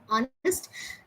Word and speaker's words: honest: So, likewise, we have honest. Now, I have noticed uh many people, you know, this honest is something which H is silent.